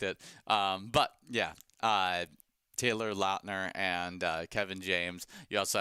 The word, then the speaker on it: Lautner: Yeah, it's Taylor Lautner. Oh. Is how it's actually supposed to be. I remember some video of him actually explaining that it's Lautner and not Lautner.